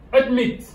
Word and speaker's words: admit: Ici, on va mettre admit. Et dans admit, on a l'accent on the second syllable.